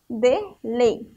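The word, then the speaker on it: Wanderlei: Mas já Vanderlei é com W também, mas a pronúncia, o som da palavra é com V, ó. Vanderlei.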